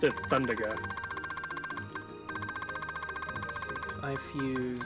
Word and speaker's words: Thundaga: Thundaga. Yeah, I think how you're saying it is the correct way because it's supposed to be like Firaga and Blizzaga.